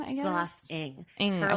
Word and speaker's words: Ng: Celeste Ng, I guess. Celeste Ng. Her like handle on social media is like, it's pronounced Ing.